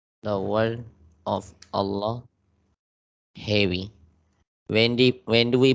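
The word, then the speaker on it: الله: They are saying when do we make the word of Allah heavy? We pronounce it heavy when the letter before the word of Allah has a fatha or dhamma on it.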